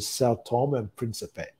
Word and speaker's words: São Tomé and Príncipe: And then we've got a different pronunciation. But I think in general terms, we know that there's different pronunciations. So as long as the person who's listening can understand what you're saying, that's obviously the main objective. So we're going to go with São Tomé and Príncipe as our pronunciation for this country.